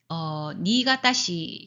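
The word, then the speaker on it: 新潟: 그리고 니가타시 같은 경우에는 요 새로운 신자를 니가타시, 니라고 발음이 됩니다.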